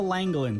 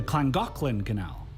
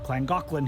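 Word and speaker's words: Llangollen: so this is The langin Canal at least that's how I read it but I learned the Welsh pronounced the double L's as CLA so it's actually pronounced the clangin canal all right this part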